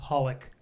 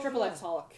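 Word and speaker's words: xxxHOLiC: and then you got this series which is just pronounced holic yeah triple X holic yeah the three X's at the front are completely silent you just say holic but that's a different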